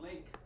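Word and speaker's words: LingQ: it that's the problem it's called link l-i-n-g-q it's labor learning Ally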